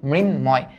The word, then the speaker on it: মৃন্ময়: ওকে, এবার দেখো ময়ের সাথে যদি ন থাকে, নয়ের সাথে যদি ম থাকে, তাহলে ময়ের উচ্চারণটা বহাল থাকে। দ্যাট মিনস এটার উচ্চারিত রূপ হবে মৃন, মৃন, তারপর হবে ময়, মৃন্ময়। এটা কি হবে?